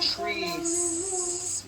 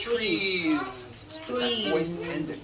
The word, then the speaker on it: trees: make it plural is you continue the voicing throughout the whole word and add on a voiced z so here we go you've got one tree or two trees it's not trees with an unvoiced s it's trees another example the word